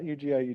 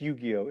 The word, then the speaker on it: Yu-Gi-Oh: Please UG not UGI UGI and certainly not UIO. Am I even pronouncing? It's Yu-Gi-Oh, isn't it?